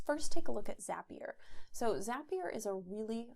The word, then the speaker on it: Zapier: zapier and he said zapier makes you happier so that's how you remember how to pronounce it it makes you happier